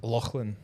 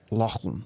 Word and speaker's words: Lachlan: Lachlan. Okay. Pronounce it for me. Lachlan.